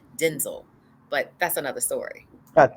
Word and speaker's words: Denzel: fly away or the unit or working with Denzel Washington there's a video floating around where he said his name is actually pronounced Denzel but that's another story but that is another